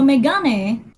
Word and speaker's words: Megane: So Megane, that's how you pronounce it.